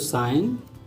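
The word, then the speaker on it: sign: अब जी में देखते हैं, जी साइलेंट है इसमें तो साइन।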